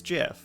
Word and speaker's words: GIF: on pure logic and the most logical pronunciation for that word is jif if you you know